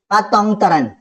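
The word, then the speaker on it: Paetongtarn: आप देख सकते हैं इनका नाम है दैट इज पतंग तरण याद रखिए ऐसे नाम प्रोनाउंस किया जाएगा पतंग शिनावात्रा ओके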